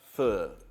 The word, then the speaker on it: Pho: chicken broth but it's Vietnamese style spelt faux pronounced fur right so but this is a Vietnamese inspired